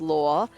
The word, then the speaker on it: lore: L-A-W and L-O-R-E differently, but in Australia, both of those words are pronounced as law. Right? So the law that lawyers practice is pronounced law, and then law is in the lore of a story, canon. L-O-R-E, that's also pronounced as law. They are homophones in Australian English.